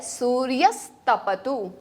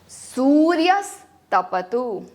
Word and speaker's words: सूर्यस्तपतु: ध्यान रहे सु में दीर्घ उ की मात्रा है, तो वहां पे दीर्घ उ के जैसे ही उच्चारण होना चाहिए, और तपतु में ह्रस्व होने के कारण सिर्फ उसके आधा समय उसे देंगे। सूर्यस्तपतु।